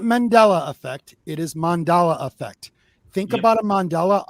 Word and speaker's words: mandala: constantly and i go no it's pronounced mandala not mandela people saying mandela they're saying the wrong name just so did you